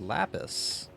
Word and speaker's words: lapis: it wrong lapus lupus I didn't say lupus said lapis like Lapras the Pokemon the poken do you